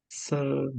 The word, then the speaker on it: sermon: What about sermon? Sermon. I think the first Good. syllable.